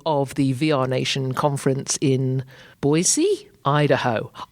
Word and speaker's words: Boise: This is day 2 of the VRNation conference in Boise. Idaho. I was pronouncing it Boise, and I got told very quickly that that is not the way to pronounce it.